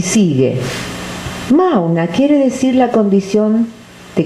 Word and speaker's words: Mauna: M-A-U-N-A. Mauna, que quiere decir silencio. ¿Qué es Mauna? La palabra Mauna consiste de 2 sílabas, ma y na.